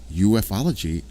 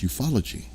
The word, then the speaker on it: ufology: But a lot of people say it ufology, and it's not. It's ufology.